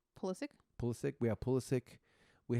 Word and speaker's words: Pulisic: And I think that's why we have Pulisic now, or how do you pronounce the name? Pulisic.